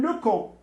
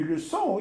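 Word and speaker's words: leçon: الا جاب الله ما درتش هاد السي دي هادي غتولي اون لوكون. اون لوكون ما عندها حتى معنى. اون لوسون هي الدرس. وباش نكتب باش نطقها لوسون خصني نزيد لها هادي سميتو.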